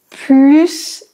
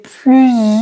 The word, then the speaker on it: plus: bonne prononciation il a plus d'amis que moi ici c'est la supériorité donc on doit prononcer le S c'est utile que je